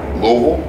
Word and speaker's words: Louisville: I said we got Louisville, right? We got Louisville. Kentucky. People say Louisville. Louisville.